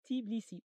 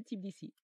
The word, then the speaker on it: Tbilisi: Ça s'écrit Tbilisi, et moi je disais Tbilisi. Donc notre copain Thierry m'a fait tout un cours que ça se disait Tbilisi.